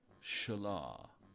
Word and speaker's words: Shala: It's pronounced Shala. Oh, right. Yes, sorry. Eliandor's sister's name is pronounced Shala.